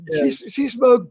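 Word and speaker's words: Seasmoke: Master Jimmy Walker impla you to pronounce it correctly it's light SE smoke uh SE smoke burning that guy was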